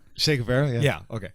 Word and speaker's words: Che Guevara: Che Guevara? Yeah, that's it. Yes. Am I saying it right, George? Is that right? Che Guevara, yeah.